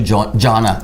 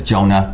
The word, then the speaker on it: Jonah: Before I met you, I called you Jonna, but it's Jonah.